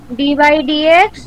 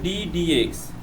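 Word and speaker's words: d/dx: First এরটা হবে 3 ডি বাই ডিএক্স। ডি বাই না, উচ্চারণ হবে ডি ডিএক্স।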